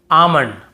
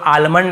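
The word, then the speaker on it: almond: जैसे काम बाम पाम और यहां पे आमंड बहुत से लोग आलमंड ऐसे बोल देते हैं बहुत काल्म बालम पाल्म नहीं होगा काम बाम पाम और आमंड ऐसे आलमंड आलमंड नहीं पढ़ेंगे ठीक है आमंड व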